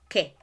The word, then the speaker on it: Kẹ̀: interjection and an exclamation it is que que so you may have probably heard it okay that's how you say it and the way that